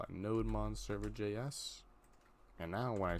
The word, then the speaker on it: nodemon: tool we will use we'll call it add nodemon no demon because it's a Daemon background process